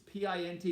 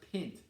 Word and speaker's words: pint: unit is what we call a pint it's p-i-n-t it is not pronounced pint it's pint all right a pint is the